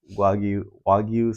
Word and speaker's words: Wagyu: You know, A5 Wagyu steak. That's how you say it.